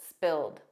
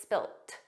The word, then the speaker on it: spilt: In American English, it's always spilled, a soft D, but in British English, it's spilt, spilt. So you might hear spilled, you might hear spilt, but those final sounds